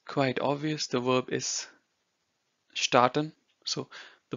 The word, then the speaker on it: starten: The verb is starten. So the pronunciation is different. So here you say start, here you say starten. So to pronounce this S over here, it's sh of show.